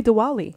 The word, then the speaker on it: Diwali: Is that how I pronounce it? Happy Diwali. Happy Diwali. Yes, Diwali.